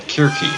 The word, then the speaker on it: Circe: There's our enemy, Circe, which the Greeks would have pronounced more like Kirki, actually.